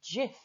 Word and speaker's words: Jif: The letter J was problematic because it's not pronounced J everywhere. Sometimes it's a H, sometimes it's a Y sound.